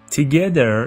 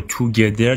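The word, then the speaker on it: together: زدن یا اردو زدن تگدر یعنی با هم با همدیگه این لغت رو توگدر تلفظ نکنید تگدر میگه که د تا دوست بودن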